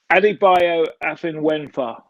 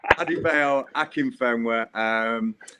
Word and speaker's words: Adebayo Akinfenwa: Adebayo Afinwenfa. No, can you pronounce it? Oh, you come on, it's Akinfenwa. So it took me a few weeks as well, Gary, believe me. But it's Adebayo Akinfenwa. I'm sure Bayo is used